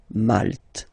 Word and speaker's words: Malte: Same thing here, you don't insist on the final E. Malte.